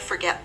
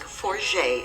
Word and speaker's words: Forget: We certainly wouldn't want to forget this Saskatchewan village of approximately 55 people. A French name, the village is pronounced more like Forget instead of forget.